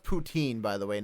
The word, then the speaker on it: poutine: guys don't call your that Putin no no I've never had tea it's actually called poutine I just Googled it